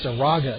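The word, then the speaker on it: Zarraga: catcher number 13 sha s h a WN Zara z a r r a ga batting eth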